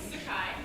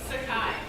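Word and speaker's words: Sekai: Sakai. Huh? Sakai. Spell that.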